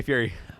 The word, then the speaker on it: Fieri: And Guy Fry was literally on. Guy Fry. Guy Fry. Guy Fieri. I love Guy Fieri. Fry. Guy Fry. Fieri. Guy Fry. You have to pronounce it Fieri.